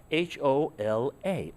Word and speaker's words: hola: okay you say hola h-o-l-a hola but in spanish we don't pronounce the h so really what you're